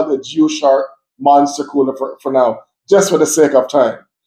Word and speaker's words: Jiushark: brand name is called Jiushark. It sounds weird, but I think that's how you pronounce it, Jiushark. Jiushark. It's kind of a tongue twister.